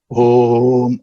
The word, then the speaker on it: Om: That Om, even though it's one word, it's a composite of 3 syllables. Akara, Ukara, Makara, Iti, Mandukya Upanishad. Om has A, U, Ma.